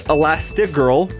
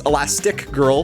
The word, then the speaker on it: Elastigirl: That's Elastigirl, one word. I've actually been pronouncing this Elastic Girl for the past 20 years, but turns out I've been wrong this entire time.